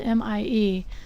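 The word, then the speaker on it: Mie: scatters all of the wavelengths equally is called M scattering it's spelled m IE and it's named after the scientists who discovered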